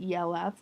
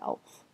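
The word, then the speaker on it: e.l.f.: because it's I feel like that's how it should be said but I've seen a lot of other people who say EF but it's it's. I'm calling it elf um cuz it's spelled.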